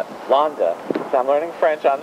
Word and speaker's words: Landes: It sounds like London, but it's Londa.